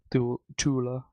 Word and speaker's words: Cthulhu: Tula. That's just the German pronunciation, but yeah.